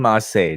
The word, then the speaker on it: ma.çé: will be how do you how did you pronounce it now you can call him marseille now the cherry on top that sounds ridiculous